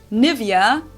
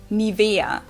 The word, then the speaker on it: Nivea: pronunciation pretty funny here English native speakers usually say Nivea Nivea in German we say Nivea so the emphasis is on the E Mi via foreign I'm